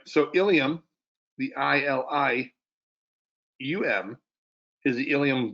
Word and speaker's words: ilium: So ilium and ilium, spelt this, are pronounced the same way, spelled differently.